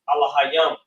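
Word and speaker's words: אלהים: We would call them angels in English, but in the Hebrew they are pronounced Alahayam.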